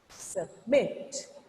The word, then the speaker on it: submit: When there is a syllable stress, after the stress only your sound should be up, but before the stress, your sound should be little down. Your sound should be little down. Just like submit.